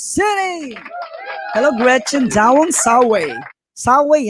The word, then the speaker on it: Saway: Saway, ang bigkas dyan, wag mong sabihin Saway.